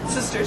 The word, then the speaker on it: Systers: Hi, yes, so Sisters, to start with, is spelled S-Y-S-T-E-R-S, and it's at sort of the lowest level.